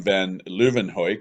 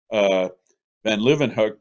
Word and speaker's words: van Leeuwenhoek: The first person to observe living cells, that would have been bacteria, sperm, blood, things like this, was Anton Van Leeuwenhoek. That's how I'm pronouncing his name.